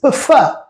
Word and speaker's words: prefer: So the pronunciation of this verb is prefer.